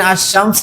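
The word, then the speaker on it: الشمس: শামসিয়া কম আলাদা করব আশশামস দেখেন আমি যদি এখানে আশশামস লিখি আশশামস লিখতে লামটা অনুচ্চারিত থাকে লামের কোন উচ্চারণ হয় না আশশামসু ঠিক যতগুলো হরফের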